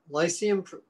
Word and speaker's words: Lyceum: It's the Lyceum Project, that's how you pronounce it, on Hermes College on